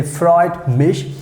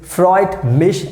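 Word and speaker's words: freut mich: meet someone first time so you can say freud mish so this is something very easy you can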